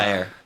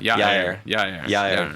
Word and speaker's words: Yair: It's just think ya, like you're saying ya, and then air, like you're talking about the air. Yair.